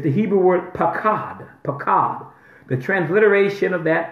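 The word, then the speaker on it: paqad: It's the Hebrew word pakad, pakad. The transliteration of that pakad is spelled P-A-Q-U-A-D.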